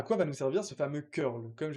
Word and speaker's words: curl: Maintenant, à quoi nous servir ce fameux curl ? Comme je l'ai ? Oui, ça se prononce curl.